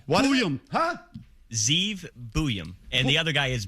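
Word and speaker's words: Zeev Buium: Zeev Buyum.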